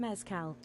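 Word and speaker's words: mezcal: Kilro says messcal pronounced mezcow.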